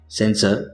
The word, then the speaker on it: censer: सेंसर, सेंसर, सेंश्योर, तीनों words के pronunciation में थोड़ा सा डिफरेंस है। पहले दो वर्ड्स है उसके प्रोनाउंसिएशन सेम है, सेंसर, सेंसर। तीसरा वर्ड है उसका प्रोनाउंसिएशन होगा सेंश्योर।